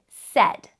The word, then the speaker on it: said: to Remember by heart it sounds like e but it's spelled with a i and that's how we spell the word said so a heart word